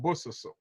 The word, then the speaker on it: Bososo: It's called Bososo.